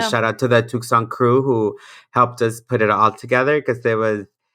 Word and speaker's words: Tucson: Bueno, Tucson o Tucson. ¿Cómo se dice? Tucson, hay que decirle Tucson.